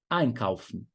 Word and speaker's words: einkaufen: Ou se tem um verbo, por exemplo, einkaufen, né? Fazer compras. Ein é um prefixo separável. Mas quando está ali juntinho com o verbo, einkaufen, você vai falar, a sílaba tônica vai ser em cima do ein.